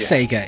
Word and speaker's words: Sega: save Europe but yeah it's complicated okay it's Sega it's Sega okay that's the let's stick with